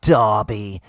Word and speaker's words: derby: We move on to the Merseyside derby. Everton. Can I just quickly interrupt? It's a derby, and you've said it right, Connie. Derby. It's a derby, not a derby, Paul.